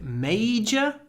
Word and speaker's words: major: So major, stress on the first syllable, majority on the second.